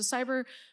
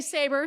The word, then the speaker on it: saber: cave and there's a cyber what are those cyber tooth tigers is that how you say it saying say saber thank you saber i